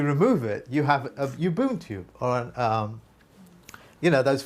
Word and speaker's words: Ubuntu: Pronounce it for me, please. Ubuntu. That's it. Ubuntu.